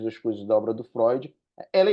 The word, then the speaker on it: Freud: O Sigmund Freud, assim que se pronuncia o nome dele, né? Mas a gente vai chamar ele de Freud, ele traz dois princípios.